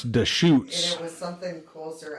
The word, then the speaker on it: Deschutes: it's actually pronounced Deschutes. I always said Deschutes, but it's Deschutes.